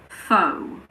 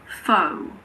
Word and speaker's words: faux: The most common one is probably faux. Faux. It comes from French.